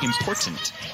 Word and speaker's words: important: the way you said important there's actually a t in the middle of important people don't know that as bella cravens gets the bucket to fall it's important to pronounce that t he's gonna say that